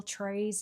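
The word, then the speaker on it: Thérèse: If you're ever wondering how I spell Trees, it's t h e r or e s e with some accent in the middle. It's French. Um I always say to people here in in America that it rhymes with praise or that it's like trays of cookies.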